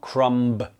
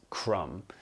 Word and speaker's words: crumb: our list today is crumb notice here that the B is not pronounced it is not crumb it is crumb so the B forget about it a crumb is a